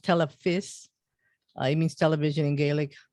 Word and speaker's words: Telefis: your collaborator it's called tele fish yes it's pronounced telephys it means television in gaelic i know um